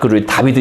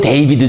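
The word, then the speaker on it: David: 이제 바로 이제 자 다비드 얘기를 하시겠습니다 다비드 뭐 영어로는 데이비드 그죠 이제 프랑시스 발음으로 다비라 읽는데요 뭐 신고전주의 자체라고 할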